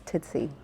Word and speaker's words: Tootsie: You pronounced it wrong. It's Tootsie.